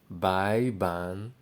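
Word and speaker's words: 白板: Now it's pronounced as bai ban.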